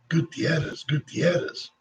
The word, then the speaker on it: Gutierrez: It's a matter of taking the time to learn to roll your R. Gutierrez.